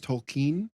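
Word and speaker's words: Tolkien: by um Jr tolken I've heard his name pronounced a bunch of different ways but from what I gather that sounds closer to what pronounced it was tolken let's talk first about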